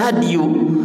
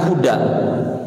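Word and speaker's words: هدي: Kan dibacanya hadiyu, bukan huda. Kitabna ge hadiyur Rasul, ya bukan hudar Rasul.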